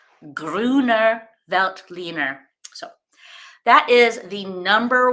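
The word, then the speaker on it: Grüner Veltliner: here we go so here's how you pronounce it here it is again gr I feel like I'm saying it pretty good gruner velt leaner so that is the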